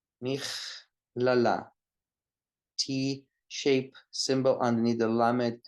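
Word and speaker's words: מכללה: Michlala, and a normal speed, michlala. It's a chaf. The letter is kaf, but it's pronounced chaf because there's no dagesh in the kaf.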